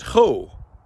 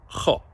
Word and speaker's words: cho: mimic and echo the vowel sound of that word. And we get cho. But that's not the vowel. It's more open. It's cho.